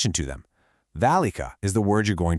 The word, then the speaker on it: ذلك: Now, when you say it, you loudly pronounce a long A sound right after that first letter. you say "thalika." But, here's the catch. The word is actually written completely without the vertical alif character that normally represents that long A sound.